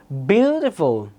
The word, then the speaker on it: beautiful: এবার polysyllabic adjectives একটু বোঝার চেষ্টা করি, like beautiful. Beautiful land. Beautiful. প্রথম syllable কেন হলো?